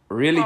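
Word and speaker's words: Reely: Really?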